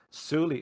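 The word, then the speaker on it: Souli: the question in chat suli is spelled uh well it's spelled with three banu characters which are such pronounced with a break between the u and the u um and it's spelled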